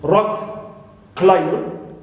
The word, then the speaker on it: rock climber: compound the nouns okay like rock climber so we stress rock home builder we stress